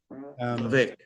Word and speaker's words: Vivek Atray: I mean, I saw you this morning with Vivek Atray. Is that how you pronounce his name? Vivek Atray? Vivek, yes.